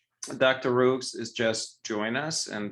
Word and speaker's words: Rioux: And I promise I am never, ever bothered by people mispronouncing my name, but just for the record, it's Rioux.